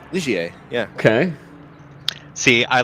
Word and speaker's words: Ligier: Is that how you pronounce that? Ligier? Ligier, yeah.